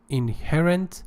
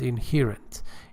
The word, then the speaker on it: inherent: Inherent, we have two pronunciations for that: inherent and inherent.